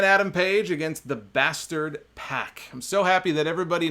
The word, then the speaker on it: PAC: look I went to pack and I said dude how do you pronounce your name and he said it's pronounced PAC so don't yell at